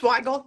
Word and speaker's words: Weigle: So I'm so excited to be on with Nicole Weigle. Am I pronouncing that right? It's Weigle, but it's Weigle, okay.